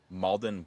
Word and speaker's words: Mauldin: The next one that I have is from Malden Woodwork. That is spelled Mauldin Woodwork.